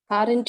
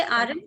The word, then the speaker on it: aren't: rn continuous mem yes we don't say aaron we say and okay r is silent and we aunt okay okay next sentence